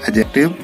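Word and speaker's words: adjective: एक बार फिर से देखें, जब किसी शब्द में डी के बाद जी आवे तो हम डी को नहीं पढ़ते हैं क्योंकि वहाँ डी का साइलेंट हो जाता है। जैसे आपको दिखाई दे रहा है एडजेक्टिव, यानी यहाँ हम एडजेक्टिव नहीं पढ़ेंगे क्योंकि यहाँ पर डी का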